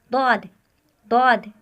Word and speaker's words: ضاد: پر ادا ہوتا ہے۔ یہاں ضاد کو زبان کے پچھلے حصے سے داڑوں کے ساتھ ملاتے ہوئے تلفظ کرے۔ ضاد۔ دوسری مثال دیکھیے، سورہ